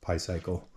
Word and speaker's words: Picycle: Sorry if I butchered the name, but the distributor told me that's how it was pronounced, Picycle.